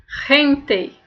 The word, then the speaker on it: gente: palavrinha bem aqui ó lê como se fosse rente que é pessoas rente e Ramon Ramon Ramon